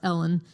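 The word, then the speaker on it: uilleann: If you saw it written, it looked like Julian, but it's actually pronounced Ellen, and it's with bows,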